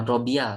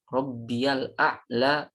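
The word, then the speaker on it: ربي الأعلى: Al A'la wabihamdih ya Jadi pada saat bacanya jangan Robiah tapi ada tasnya disitu Subhana robial Allah wabihamdih Oke kemudian Bagaimana sujud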